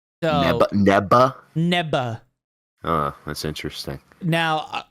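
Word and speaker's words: Neva: apparently Nea is pronounced neba because it's uh what's it called their pronunciation of the V is a b so NE neba neba oh that's interesting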